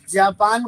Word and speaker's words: Japon: French grammar ने जापान को masculine माना है. राइट? और जापान को फ्रेंच में स्पेलिंग लिख लें. जापान को क्या बोलेंगे? जापान को बोलते हैं जापोन. JAPON. जापोन.